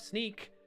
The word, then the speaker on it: Snyk: Speaking of Sneak, how could I forget? I just want to shout out to the company I work for. It's SNYK. Sneak is how we pronounce it.